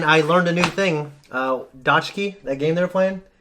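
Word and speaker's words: 딱지: Dodki. Yeah, I wrote down phonetically Dotki. I think it's the second one you did. It's not Dodge key. It's in between that and dot key.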